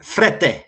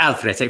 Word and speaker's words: Frette: It's Frette, just Frette, not El Frette, Frette.